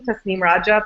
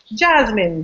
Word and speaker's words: Tasneem Raja: that people constantly mispronounce so like my name tasneem Raja people are constantly mr. like I get Jasmine Janine of stuff and it's something that